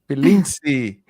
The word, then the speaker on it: Pilintisi: Am I pronouncing your surname correctly? Absolutely. Pilinzi.